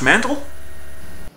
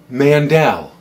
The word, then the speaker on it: Mandel: TRS what the hell Josh mandle it's pronounced Mandel what seriously how are